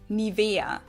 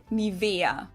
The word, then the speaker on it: Nivea: In German, we say Nivea, Nivea. So the emphasis is on the E, Nivea.